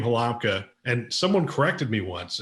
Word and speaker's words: Halamka: And so Halamka is how a U.S. person would say it.